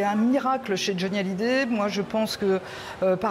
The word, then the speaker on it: Hallyday: Alors tout le monde prononce Hallyday avec un H aspiré parce que, évidemment, il est américain.